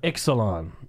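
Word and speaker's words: Ixalan: say it right but I think it's Exelon is that how you say it it is it is the Lost caverns of Exelon am I saying it right yes got it got it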